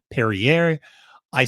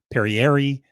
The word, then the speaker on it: Perrieri: Let's start with the horse coming out of post position 3, Perrier. I sometimes say Perrier, Perrieri, Perrier. I've heard it pronounced several different ways during the race call, but we'll just go with Perrieri.